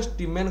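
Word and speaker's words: stamen: कहि दोजी जेतले हमें स्टिमेन कथा कहबा आजा आजा आजा देखो स्टिमेन कथा कहबा आगो स्टिमेन जहाँ पढ़ुछ पढ़ मु तो स्टिमेन कहि दिए किंतु एक्चुअली प्रोनाउंसिएशन स्टेमेन हो स्टेमेन देखो जेतले स्टेमेन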